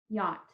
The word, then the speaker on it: yacht: to unmute yourself to say the words yacht just one syllable okay yeah ah those are